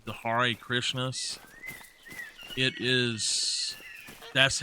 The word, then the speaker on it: Hare: It's they're called the Hare Krishnas. That's how it is spelled, and it is pronounced Hare, like Hare. People around here call them the Hare Krishnas, but it's actually Hare Krishnas.